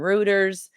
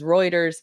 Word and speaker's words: Reuters: They they have a lot of sources from Roers Reuters. Yeah, I think that's how you pronounce it is Reuters.